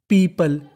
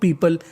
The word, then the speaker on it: people: पीपल, PEOPLE, इसे पढ़ते हम लोग पीपल। कई लोग इसे पीपुल पढ़ते हैं जो कि गलत होता है। इसका सही उच्चारण होता है पीपल।